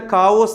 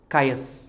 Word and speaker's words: chaos: ചിലരിത് വായിക്കുന്ന കാവോസ് എന്നൊക്കെയാണ്. അതിൻ്റെ കൃത്യമായ ഉച്ചാരണം കയസ്. എന്താണ്? കയസ്.